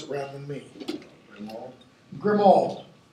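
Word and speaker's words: Grimmauld Place: Grimald. Grimold. Grimold Place. It is a grim old place.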